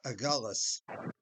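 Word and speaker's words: Agulhas: A Cape Agullis.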